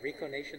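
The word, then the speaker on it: reconation: I always mispronounce that Rico nation I got that right model recognition so what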